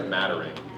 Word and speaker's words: Madarang: Will Officer Madarang. Okay, before I read this, Madarang or Madarang? Madarang.